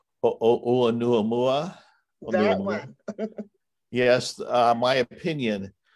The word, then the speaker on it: Oumuamua: Wants to know your opinion of, hopefully I'm pronouncing it correctly, Oumuamua? Oumuamua.